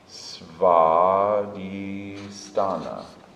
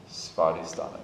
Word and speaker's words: Svadhisthana: The second chakra, the W, is said like a V.